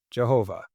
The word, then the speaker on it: Jehovah: 4 consonants of YHWH, this is what you come up with. Yahovah, which looks like a word that you could pronounce. It's not. It's not real, but it sounds like it could be a word, and the word is, if you'd replace the Y with a J, Jehovah.